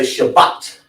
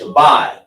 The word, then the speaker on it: Shabai: Some people say Shabbat, but it's Shabai.